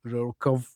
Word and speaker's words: RWKV: I'm going to say the abbreviations so that RWKV, which or some people call it the the Rukov, right?